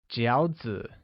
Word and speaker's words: 饺子: Lastly, dumplings translates as 饺子, which is pronounced with a falling rising tone.